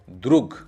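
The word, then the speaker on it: друг: है, तो गलावा, दोनों ओ ही आ जैसा प्रोनाउंस होगा, गलावा। उसके बाद है द, र, उ, ग, द्रुग।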